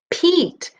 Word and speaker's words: Pete: Eat, Pete. The E is silent, but its job is to jump over the T and tell this E to say its own name.